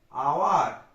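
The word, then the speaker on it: hour: Dash আওয়ার, আবার দেখো এইচটা consonant, কিন্তু এখানে উচ্চারণটা কি হচ্ছে? আওয়ার।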